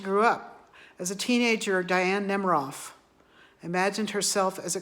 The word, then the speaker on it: Diane: Her parents pronounced her name in the French way, Diane. So she wasn't Diane, she was Diane.